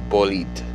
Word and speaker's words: Bolide: French car company, and they pronounce everything in French. So, or Francais, if you will, and it's Bolide.